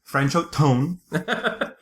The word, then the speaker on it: Franchot Tone: franchot uh franchot tone francho tone which l literally sounds like a trombone he's kind of a